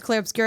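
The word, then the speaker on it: Clair Obscur: I was calling it Claire Obscura. Yeah. It's not called Claire Obscura, it's Claire Obscura.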